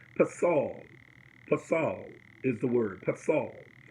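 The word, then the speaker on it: פֶּסֶל: And the Hebrew word is pasal. Pasal is the word, pasal. But it's spelled P-E-S-E-L. P-E-S-E-L. The word is pasal.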